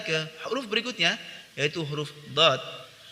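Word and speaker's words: ض: Kita lanjutkan ke huruf berikutnya, yaitu huruf dad. Huruf dad diucapkan dengan menyentuhkan sisi lidah dengan gigi geraham atas.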